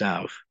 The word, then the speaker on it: Av: Now, Ab, pronounced Av in Hebrew, A-B, where we get Abba. It means father. Av means father.